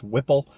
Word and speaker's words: Whipple: I always mispronounce the supercharger. It's Whipple.